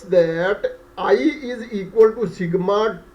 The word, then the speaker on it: sigma: In Greek alphabets, this symbol is called sigma. Okay, we will also introduce a tool in which this thing will be clarified, clearly mentioned that this symbol is pronounced as sigma.